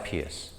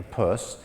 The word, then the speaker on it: Peirce: Louvre people not in the know it signifies Pierce okay I certainly would have if I had